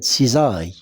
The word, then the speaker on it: cisaille: S entre deux voyelles I et A se prononce Z cisaill.